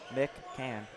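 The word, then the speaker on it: McCann: take out my pen m m c c a n just right there for the pronunciation there you go Mick can good baseball player too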